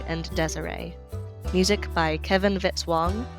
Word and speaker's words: Vitz-Wong: Music by Kevin Vitzwang rhymes with hit song.